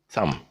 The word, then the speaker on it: thumb: And then the word thumb, which is this, your thumb. That's not a finger, it's a thumb. Thumb, the B is silent, so you don't say thumb.